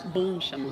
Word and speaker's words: bon chemin: which is Bon chemin.